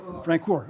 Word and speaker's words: Francor: How do you pronounce the last name? Francor.